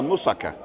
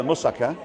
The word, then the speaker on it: moussaka: So anyway, I got home and I've already cooked a moussaka.